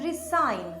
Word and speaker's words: resign: हमारा next word pair है resign and resign. Resign में s को z प्रोनाउंस किया जाता है और इसका मीनिंग होता है to quit your job.